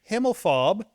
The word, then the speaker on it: Himmelfarb: Dread, whose actual name is Gary Himmelfarb. Am I pronouncing that correctly?